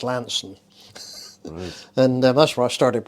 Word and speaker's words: Launceston: river board in in in what you would pronounce as Launceston yeah but it's actually pronounced Lansing and that's where I started work in the